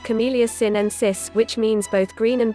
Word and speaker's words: Camellia sinensis: Green and black teas originate from the same tea plant, Camellia sinensis, pronounced like Camellia sinensis, which means both green and black brews contain